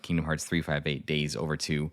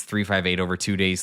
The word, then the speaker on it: Kingdom Hearts 358/2 Days: The official pronunciation of the title is Kingdom Hearts 358 Days Over 2.